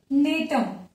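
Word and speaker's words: Gnetum: जैसे एक एग्जांपल आ जाएगा यहाँ पे नेटम। एग्जांपल क्या हो जाएगा? जिसमें जी साइलेंट होता है।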